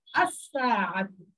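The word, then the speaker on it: الساعة: সাতুন একটি শব্দ, সাতুন মানে একটি ঘড়ি, এটা আপনারা করেছেন চিনতে সূচনা, এর শুরুতে যখন আল আসে তখন এই নামটা উচ্চারিত হবে না, আসাহাতুন, আসাহাতুন।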